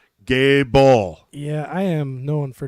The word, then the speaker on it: Goebel: he picked up the mic and he said Gable yeah I am known for destroying names on